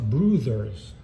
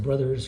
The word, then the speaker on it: Brouthers: talk about and is Dan bruther and it's pronounced bruther like BR b r o o BRS and sometimes I pronounce it brothers because you get you know what it looks